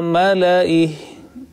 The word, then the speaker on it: ملئه: So wherever the word mala'ihi has comes, you have to pronounce accordingly, that dropping the excessive alif which has come after lam.